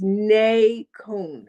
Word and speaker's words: Nacone: So it's nay cone but I will say none.